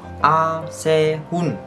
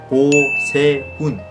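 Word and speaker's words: Oh Sehun: A Se Hun, no, O Se Hun, O Se Hun.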